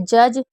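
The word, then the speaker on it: judge: जैसे जज इसमें यू भी साइलेंट है क्योंकि बीच में यू साइलेंट रहता है और डी भी साइलेंट है। ई भी साइलेंट है। तो इसको पढ़ा हमने जज।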